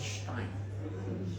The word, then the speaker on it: Stein: but if you really want to pronounce it correctly, it's a German way. It's called Stein because Stein is a stone as I explained here.